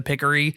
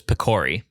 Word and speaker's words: Picori: I have always pronounced this Picori. Really? Yeah. I say Pickery, and I don't know why, but I doubt that there's like a common, like an accepted correct way to say this, right? Because it's all in text bubbles, and right. Like the way that it's spelled, it really could be either.